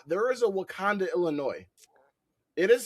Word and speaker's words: Wauconda: He was like, out in the middle of nowhere, of fucking Wakanda.